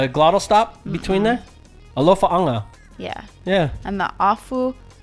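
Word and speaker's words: Alofaaga: Alofa anga.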